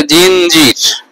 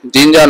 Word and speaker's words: জিঞ্জির: পরবর্তীতে আসে জিঞ্জার, এর পরবর্তীতে আসে জিঞ্জির, জিঞ্জার না জিঞ্জির, উচ্চারণ হবে জিঞ্জির।